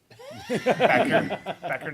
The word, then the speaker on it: Becker: Becker, not Beecher? Becker? It is correct. It's actually pronounced wrong the way we say it. It's actually Becker.